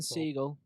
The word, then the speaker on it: Segel: But Jason Segel, absolute Jason Segal, diamond of a man. I don't think it's ever been pronounced Segal. Sick. like Steven Seagal. No, yeah, but It's he his doesn't son, innit? pronounce it like that.